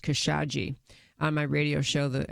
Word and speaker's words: Khashoggi: wanted to say and she says pronounced kesaji on my radio show